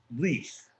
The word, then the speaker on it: Lis: It's spelled Lis, Lis, and it's pronounced lease.